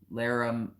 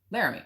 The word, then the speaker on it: Laramie: It's pronounced Cheyenne and Laramie. Laramie.